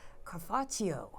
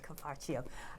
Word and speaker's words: Cafarchio: I'm Laurie Lawson, and tonight my guest is Cafarchio. Did I say it right? Yes, you did, Laurie. All right, Cafarchio.